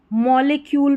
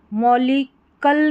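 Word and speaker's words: molecule: तो यहां पर इसको मॉलिक्यूल पढ़ेंगे। मॉलिक्यूल मॉलिकल नहीं पढ़ेंगे। मॉलिकल पढ़ दिया। ऐसा नहीं शुरू में रहेगा सी यू एल।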